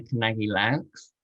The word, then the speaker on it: Kanagy-Loux: That brings us to ELENA KANAGY-LOUX, and I think I've got that pronunciation right, having checked it with her beforehand.